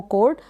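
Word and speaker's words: chord: होती है, तार, वो कोड। यहाँ पर ओ को ओ प्रोनाउंस कर रहे हैं, आर को आधे र के रूप में और डी को ड, कोड। तो ये हो गया कोड।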